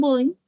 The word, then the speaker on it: Bodin: Eh, que va a ser acuñado por un filósofo francés llamado Jean Baudin, o Jean Bodin, como se escribe, y es a partir de él que ya los otros filósofos van a llegar y van a hablar, ¿no?